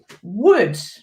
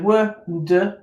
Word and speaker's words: would: Okay, number 2, would. Okay, and again, although it's tricky, if you can remember that, so would, but that O-L in the middle, okay, then you've got would, should, could.